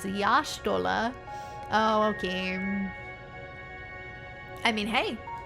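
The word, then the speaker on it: Y'shtola: The technical pronunciation is Yashtola.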